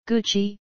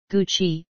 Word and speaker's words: Gucci: GOO-chee, GOO-chee, Italian pronunciation, is an Italian high-end luxury fashion house based in Florence, Italy.